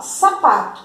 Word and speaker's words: sapato: Aqui, sapato. Então, sa-pa-to. Qual é que ficou na coluna da sílaba tônica? Sa-pa, o pá. Então, a sílaba tônica de sapato é o pá, certo?